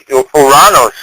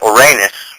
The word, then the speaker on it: Uranus: humanitarianism excuse me huh oranos or oranus however you want to pronounce it all right I just don't like to say Uranus right I I pronounce oranos because my you know